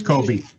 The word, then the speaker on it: Kobe: I'd like to also at this time, I guess, announce and thank Kobe. Did I pronounce that right? It's Kobe. Yes, that's correct. Kobe.